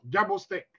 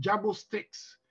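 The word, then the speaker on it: Jabo Starks: Et j'avais pris le nom Jabo Steak. Mais en fait, plus tard, le vrai Jabo, c'est normalement la vraie prononciation, c'est Jabo Steaks, qui était le grand batteur de James Brown.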